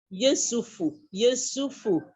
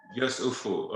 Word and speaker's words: Yesufu: And the last name, how is it pronounced? Yesufu. Yesufu.